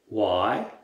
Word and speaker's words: Y: Y est prononcé comme le mot pourquoi en anglais. Why?